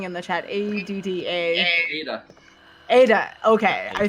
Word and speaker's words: Ada: How do you pronounce that? I'm seeing someone say A. Oh, the spelling in the chat. ADDA. Ada.